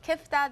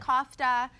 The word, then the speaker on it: kafta: There are many different ways to pronounce it. There's many different ways to spell it. It's, you know, I call it kifta. That's what my family calls tomato, it. Tomato? Yeah, tomato, tomato. Some call it kofta, whatever, you know.